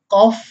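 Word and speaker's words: cough: यदि जी H silent नहीं होता है जिन शब्दों में तो उसमें जी एच का जो उच्चारण है, साउंड है, फाका होता है। जैसे कॉफ मीन्स खांसी, इनफ मीन्स पर्याप्त, रफ मीन्स खुरदरा, लाफ मीन्स हंसना। इन सभी शब्दों के लास्ट में जी एच आया है जो साइलेंट नहीं है और फाकी आवाज दे रहा है।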